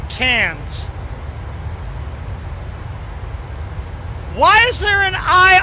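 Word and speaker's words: Cairns: ah all right so so now canes cans pronounced cans why is there an i r and an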